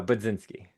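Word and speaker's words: Budzinski: Is it Budinski or B? How does she pronounce her last name? So, uh Bzinski.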